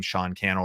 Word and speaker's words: Sean Cannell: just google my name sean cannell rhymes with youtube channel and cnbc but we've